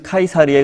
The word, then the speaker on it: 카이사르: 그 이후에 로마의 율리우스 카이사르의 의해서 다시 고린도 듯 도시는 재건 되었습니다 성경의 가이사의 것은 가이사에게 하나님의 것은 하나님에게 하는 바로 그가 이사입니다 영어로는 씨저 라고 발음을 하고 성경에는 카이사르 라고 발음을 합니다 카이사르는 고리 녹아 전략적으로